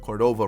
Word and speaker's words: Cordova: since we have kevin cordova right behind him so i keep saying his name wrong it's cordova um kevin cordova we